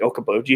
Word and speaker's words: Okoboji: There's like, if you go around, somebody's going to get mad from this, but like Okoboji area. If you go, it rhymes with Schmoka-Schmoji.